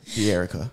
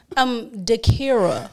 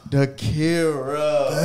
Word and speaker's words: Dhakirah: And we got a guest, D'Erica. How you doing? D'Erica. I mean, how you pronounce your name?